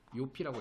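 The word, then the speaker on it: Jofi: 이게 조피예요. 조피. 요피라고 읽어야 돼. 요피. 독일어니까 요피.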